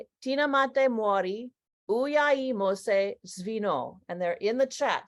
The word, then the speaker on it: Uyai Mose: and that it's spoken in Zimbabwe and it's pronounced Mori uyi Mose and they're in the chat so join me